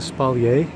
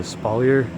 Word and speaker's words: espalier: here things like that it's a called a spal or a spaer depends on how you want to pronounce it that's all up to